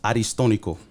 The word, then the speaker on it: Aristónico: So my first name is actually pronounced Aristónico.